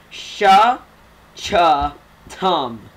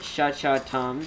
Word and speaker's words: Shchtm: And so imagine just having vowels there, and it's sha, cha, tum. Am I right? Think of it that way. So, if you want to spell it sha-cha-tum, then please do, but it's more convenient to spell S-H-C-H-T-M, but it is pronounced sha-cha-tum, and I'm really getting good at this.